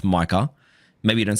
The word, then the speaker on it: Micah: Michael Parsons called him Michael again which is like man like do you not just have the most basic assistant to say bro it's pronounced Micah maybe you don't say